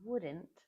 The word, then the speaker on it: wouldn't: English is very, at least American English, it's very flexible with the pronunciation of this word. Wouldn't. You don't even say the T.